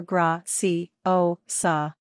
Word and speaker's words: graciosa: Pronunciation, gra-si-o-so or gra-si-o-sa.